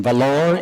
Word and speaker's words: Vellore: And recently he was a member of the academic faculty of the Christian Medical College in Vellore, India. Did I pronounce that right?